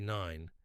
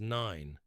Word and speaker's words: Nein: But Caleb, whose accent makes his pronunciation unclear, says it as Nein, the German word for no.